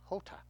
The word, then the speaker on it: jota: common error jam ham in Spanish the letter J sounds like the letter H in English it is called Jota and pronounced Jota teachers here are teaching